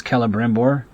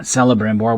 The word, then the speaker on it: Celebrimbor: C always has the sound of K in in kin never of S in simple, so Celebrimbor is Kelebrimbor not Celebrimbor, which is how I used to pronounce it when I was a kid.